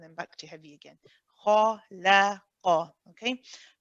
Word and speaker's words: خلق: If you find that you're saying khala, the lam is pronounced as a la, khalaqa, then that means your lam is heavy, and that is not correct in this case.